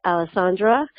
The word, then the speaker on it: Alessandra: So with that, I'd like to say that I mispronounced Senator Biaggi, your first name. It's Alessandra.